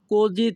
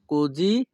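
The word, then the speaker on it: così: এত দেরি হচ্ছে কেন এই বাক্যের ইতালিয়ান ভাষা হবে পেরকে এ কোজি তার্দি। পেরকে এ কোজি তার্দি। এখানে ই এর উচ্চারণ হবে এ, আর এস আই এর উচ্চারণ হবে জি। পেরকে এ কোজি তার্দি।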